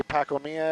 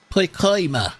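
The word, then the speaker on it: Pacoima: out here in Pima I say pacomia every now and then I I know how to say it pcoa Captain Spock says it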